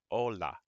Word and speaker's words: hola: you'd like is hola hola hola in Spanish is hello and as you can see the H is silent next we have adios